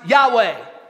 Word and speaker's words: Yahweh: L O R D it's the four letters in Hebrew that are pronounced Yahweh I am Jesus is